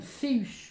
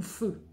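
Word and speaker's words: Fehu: C'est la rune féu ou feu. Tout dépend comment vous le prononcez.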